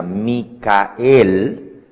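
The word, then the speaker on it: מיכאל: Claro, si usted lo escribe, en inglés se pronuncia Michael, pero en hebreo se pronuncia Micael y en español Miguel.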